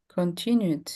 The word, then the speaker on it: continued: So, this is a Yeah, continued with D. Continued. So, the rule is when you have a vowel You have just to pronounce the D.